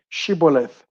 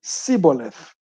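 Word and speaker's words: shibboleth: i'm not they would tell him to say shiboleth if he was from ephraim he would say if he was from ephraim he would say siboleth because people from ephraim cannot pronounce the word correctly then they would take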